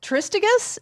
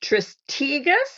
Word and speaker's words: Tristegus: i hope i say this right um uh turisticus is that how you say it very very good um i pronounce it tristigas but a lot of people say it the